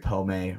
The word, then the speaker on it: pomade: So that might be the first Well, I actually have like mustache and beard pomade or whatever the fuck it's called.